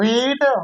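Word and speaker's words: read: क्रिया का second form रीड रेड रीड spelling वही रहेगा बस बड़ा रेड जाता है तो सेकंड फॉर्म क्या हो जाएगा?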